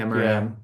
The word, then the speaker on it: Amaram: meaning oh my God, Aram. Aram? Oh my, Aram? oh man, Amaram. Aram. Yeah. One more syllable.